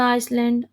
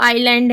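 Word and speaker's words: island: another person of द आइसलैंड देखिए मैं बार-बार आइसलैंड बोल देती हूं आप समझ जाई करेंगे कि वो आईलैंड है होता है वो बोलते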